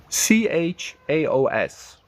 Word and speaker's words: chaos: mean soft can mean smooth subtle next one c h a o s how to pronounce c h a oos CH Soft C